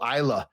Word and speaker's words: Islay: a week on this island in Scotland before that called Islay. And it's spelled Islay. So it looks like Islay or Islay.